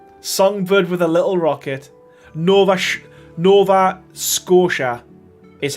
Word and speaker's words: Nova Scotia: Nova Scotia is how it's pronounced.